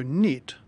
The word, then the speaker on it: knit: been a fluke so knit like other words starting with KN n has a silent k such as knife or